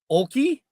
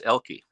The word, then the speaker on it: Oelke: first e so Oki did I get that right or wrong close the O is actually silent it's elky elky yeah the O